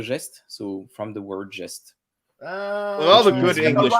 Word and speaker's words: Gest: Gest. So Gest. in English, you would say a jest of Robin Hood. Gest. And it comes from the French chanson de geste, so from the word geste.